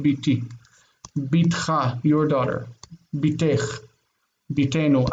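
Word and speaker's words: בִּתִּי: So my daughter is biti, not bati, but biti.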